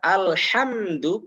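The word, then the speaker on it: الحمد: Yang pertama mengubahnya menjadi hak. Yang seharusnya alhamdu bersih, alhamdu tidak boleh diucapkan dengan hak alhamdu.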